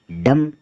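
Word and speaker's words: dumb: डी ई बीटी डी ई बीटी में बे silent रहेगा और इसको बोलेंगे डेट डेट मतलब कर्ज डी यूएम बी डम डम का अर्थ होता है गूंगा डी ओ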